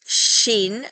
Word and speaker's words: shin: that this is pronounced Shin Like A like an sh sh sh like you're shushing somebody and with the dot